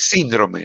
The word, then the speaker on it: síndrome: Es síndrome, no síndrome. Síndrome. ¿Ya? Porque es una palabra esdrújula, lleva tilde en la I.